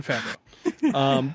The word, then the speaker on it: Favreau: I didn't even know that's how you say it. Yes, it's John Favreau.